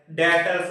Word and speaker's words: debtors: इसकी स्पेलिंग होती है DEBTORS। बी क्या रहता है, साइलेंट रहता है। डेटर्स बोलते हैं, क्या बोलते हैं, डेटर्स।